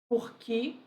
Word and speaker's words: por quê: à festa por qu esse q fica tônico eu pronuncio claramente a letra e por isso acontece quando